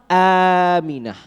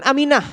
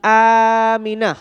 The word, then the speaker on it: Aminah: yang benar adalah apa Aminah ini penting untuk mengajarkan kepada anak-anak kita untuk mengajarkan hal-hal yang Dasar dengan pengucapan yang benar ya ibunya nabi bukan Aminah tapi Aminah ingat misalkan kakeknya nabi